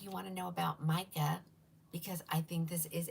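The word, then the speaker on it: Mika: And it's spelled, Cheryl, I know you put it up there, but it's M-I-K-A, mica.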